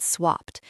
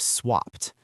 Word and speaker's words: swapped: It is also worth looking at the pronunciation of swapped. Even though it ends in an ed, we pronounce it with a T sound at the end.